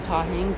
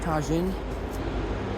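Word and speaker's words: Tajín: I got some pepper, some Tabasco, and some tahin tajin. However you pronounce this stuff, I call it tahin.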